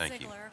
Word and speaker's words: Ziegler: Ziegler. If I mispronounce your names, please correct me. It's Ziegler. People always mispronounce it.